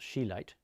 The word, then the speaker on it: chelate: But the chelate form of, pronounced chelate, the chelate form of trace elements is the one that does work particularly well.